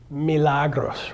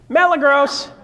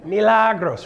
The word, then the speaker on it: Milagros: name last night what how do you say your name again Milagros right and how do most people pronounce it Mela gross hey malagos how you doing Milagros right it's like and